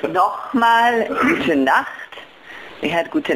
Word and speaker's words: Nochmal: So that means, Nochmal?